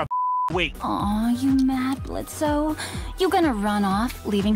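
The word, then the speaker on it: Blitzø: The O is silent, I think I want to give this another try.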